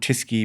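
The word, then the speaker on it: Tyskie: I'll have another bag of jellies, 3 packets of Hunky Dories, and I'll have a bottle of, Tisky beer. Is that how you pronounce it?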